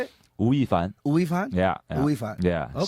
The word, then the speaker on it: 吳亦凡: Wu亦凡. That's my Chinese name, Wu亦凡. It's just Oh, going okay. crazy, right? How do you say it? Wu亦凡. Wu Fan?